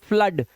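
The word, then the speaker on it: flood: would हुड यहां पर इसे इसे देखो अब आ की आवाज फ्लड अब इसे फ्लूइड नहीं बोलते इसे फ्लड बोलते हो इसे ब्लड पढ़ते हैं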